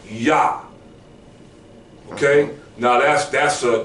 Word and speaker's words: Yah: also says install him by his name yah okay so John is erroneous yah is correct okay all right okay